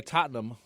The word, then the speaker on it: Tottenham: what you like better that's not how it's pronounced anyway Tottenham thank you lost on Sunday to Chelsea my